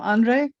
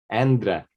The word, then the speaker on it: Endre: share my story and tell me again how to say your name right I'm sure I was mispronouncing it Andra Andra I knew I was messing it up sorry Endra sorry about that so tell us about your